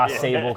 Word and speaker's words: Ausable: I mean, we don't really pronounce it correctly. It's a French word. Ausable Chasm is what we get a lot around here. It's we correct a lot of people. Ausable Chasm. That's how it's pronounced around here.